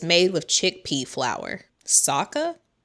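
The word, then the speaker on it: socca: Sokka? Like from Avatar, The Last Airbender? Sokka. Soka.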